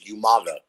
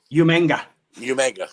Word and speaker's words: Umaga: And then you had William Regal, who could never pronounce his name correctly. He was Umaga. Umanga.